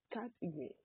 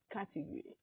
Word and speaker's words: category: Today's word is category. Category. Category. Category. Category. Believe it or not, this is a four-syllable word. First syllable is cat. And that's the syllable that carries the primary stress.